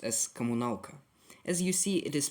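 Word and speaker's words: коммуналка: It is pronounced as Kommunalka.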